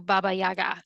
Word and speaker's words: Baba Yaga: uh yeah, sending the child to Baba Yaga.